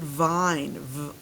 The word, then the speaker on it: vine: Right now it's the word vin, but then I put the silent E there. It changes this to an I sound. What's the new word? It's the word vine.